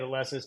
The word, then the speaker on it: Alesis: I think that's how you say it, Alesis.